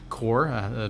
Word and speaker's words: Corps: got the Salvation Army Corps pronounced like the Marine Corps they're at our 525